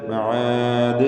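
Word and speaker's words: معاد: മആദ് എന്ന് അവസാനിപ്പിക്കുമ്പോൾ ദാലിൽ ഖൽഖല കുബ്ര നൽകണം. വഖഫിന് വേണ്ടി ദാലിന് സുക്കൂൻ വരുന്നു. ഈ ദാലിനെ വ്യക്തമായി ശബ്ദം ചലിപ്പിച്ച് കേൾപ്പിച്ചുകൊണ്ട് വഖഫ് ചെയ്യുക. മആദ് ദ് എന്ന് കേൾക്കണം. ഈ ഉച്ചാരണത്തിനാണ് ഖൽഖല കുബ്ര എന്ന് പറയുന്നത്.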